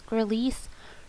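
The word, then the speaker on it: Gralise: Tablets extended release, which is also known as Grelease, and you can kind of remember that because Grelease rhymes with release, so you can remember Grelease is the extended release.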